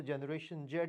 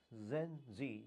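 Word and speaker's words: Gen Z: कुछ लोग जी को जेड भी बोलते हैं तो जनरेशन जेड भी कह सकते हो आप, लेकिन the right pronunciation is जेन जी, जनरेशन जी।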